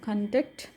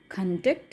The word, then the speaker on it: conduct: So here we are giving the accent in the first syllable, whereas here the accent is given in the second syllable.